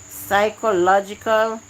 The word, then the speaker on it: psychological: for coming mrsime participate psychological and this is also another tricky word it sounds like it does not start with the letter P but yes psychological does start with the